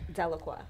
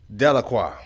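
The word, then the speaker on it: Deliqua: Delacroix. Delacroix.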